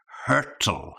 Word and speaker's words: hurtle: Number two is this word hurtle. Yeah. So to be careful with the pronunciation, you'll see the spelling appearing on the screen here.